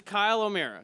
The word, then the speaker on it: Kyle O'Meara: for next break what how much this is Kyle O'Meara did I say it right yes okay cool